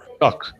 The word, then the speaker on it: talk: This word, talk. So you say talk without the L, okay?